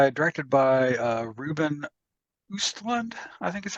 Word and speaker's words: Östlund: Directed by Ruben Östlund, I think is how you say his name.